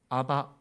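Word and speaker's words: אבא: 아버지 이렇게 말합니다 4 아람 으로 아버지 라는 말에 발음이 먼저 하세요 아바 해요 아빠 우리말의 뭐랑 비슷하죠 아빠랑 비스타 살아요 그렇죠 실제로 의미도 그래요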